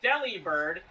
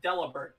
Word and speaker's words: Delibird: Also, for the people who say that's pronounced Delibird, no, it's not. It's Delibird, because it's basically a pun on the word deliver.